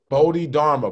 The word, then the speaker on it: Bodhidharma: bro i listen to that album then pronounce pronounce the title because i can't every time oh bodhi dharma bodhidharma is one of the buddhas that came